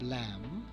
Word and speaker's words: lamb: For example, the letter B is found silent after M and before T. So C-O-M-B, it is not comb, it is comb. Then you have lamb, then you have climb, then you have plumber, not plumber.